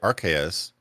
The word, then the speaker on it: Arceus: there's sound it says arceus on the on the little google thingy yeah oh british say it differently brothers say rks i keep hearing art